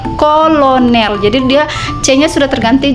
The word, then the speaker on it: Colonel: kaidah bahasa Indonesia misalnya C di muka a u dan o berubah jadi k Contohnya seperti tulisannya Colonel Ini kata pinjaman ya Colonel Tapi bacanya menjadi Kolonel jadi dia c-nya Sudah